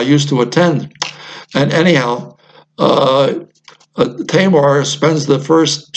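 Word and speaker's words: Tajmar: And I want to get into the work of Professor Martin Tamar. It's spelled T-A-J-M-A-R.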